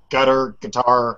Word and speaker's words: Qatar: It appears that was it Germany's foreign minister said that ISIS was getting its support from Qatar, however it's pronounced. Guitar, yeah. It's Okay. pronounced like guitar, yeah.